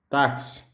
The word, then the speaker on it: táxi: Porque na pronúncia, o X, nesse caso, vai ter a função de CS.